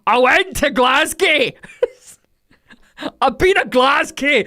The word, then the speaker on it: Glasgow: America saying Glasgow as Glasgow. I went to Glasgow, but it's Glasgow. You drop the W almost. It's Glas. Or if you're like properly, like, I went to Glasgow.